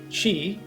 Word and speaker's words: qi: cultivate and balance chi chi again qi as it spelled is a concept from